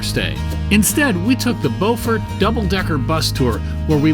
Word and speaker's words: Beaufort: Now, if you're in South Carolina and you're in a town that's spelled B-E-A-U-F-O-R-T, the same as here in North Carolina, in South Carolina, it's pronounced Beaufort. In North Carolina, it's Beaufort.